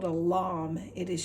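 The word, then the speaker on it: lame: use baker's used this tool it's called a lamb it is spelled l-a-m-e and it's a lovely lovely tool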